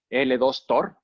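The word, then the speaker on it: L2TOR: buscar ahí en internet, se llama L2 Tor y que se pronuncia como el tutor, curiosamente en español, ¿no? Como si fuera el tutor.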